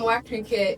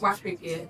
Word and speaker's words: Wakirike: So, when the white man came, he could not necessarily pronounce Waka K. So, he called it Opobo.